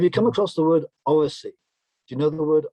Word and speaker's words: oracy: Oracy? Oracy. Oracy. O-R-A-C-Y. A-C-Y. Oracy. As in oral. Oracy.